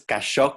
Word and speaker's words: Cachot: El despacho es Cachot, Cavazos y Newton, pronunciado así más en francés.